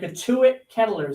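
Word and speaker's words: Cotuit Kettleers: The Couit Ketters. That's how you pronounce the name.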